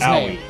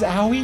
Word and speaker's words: Aoi: out of eight hi pronounced Aoi that's the kids Howie Howie yeah his name is Howie really essentially the color